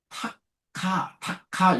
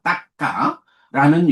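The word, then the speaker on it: takka: 딱까라는 용어가 있습니다.요 tka 보통 이제 영어식으로 타카 타카 요렇게 많이들 읽는데 어 빨리 발음 그렇지 않습니다. 따까라는 용어가 있습니다.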